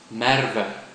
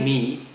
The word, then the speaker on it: Merwe: but if you say me that would be wrong think of the sound that a sheep makes may may a more